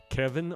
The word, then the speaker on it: Cevin: them for you now Kevin is spelled with a c it's c v i